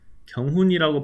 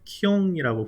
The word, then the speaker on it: 경훈: 그래서 실제로 외국인들하고 미팅을 하면 이름을 경훈이라고 발음하지 않고 그냥 키용이라고 불러줘요.